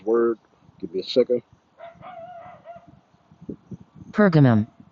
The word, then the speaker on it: Pergamum: Pergamum. Pergamum. That's the correct way how to pronounce that word. All right, Pergamum.